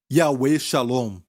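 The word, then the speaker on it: יהוה שלום: Como se pronuncia no hebraico? Yahweh Shalom.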